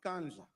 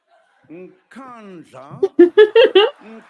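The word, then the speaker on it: Nkandla: You know, some people who could not pronounce Kanja, they've now learned Nkanja, Nkanja, Nkanja.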